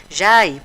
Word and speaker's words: Jai: quero fazer essa palestra Jai pronuncia-se J que é a mulher